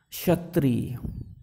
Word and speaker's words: क्षत्रिय: शब्द श्रुति इसको कुछ इसका उच्चारण क्या होता है क्षत्रिय कि क्षत्रिय जरूर ध्यान से सुनो इसको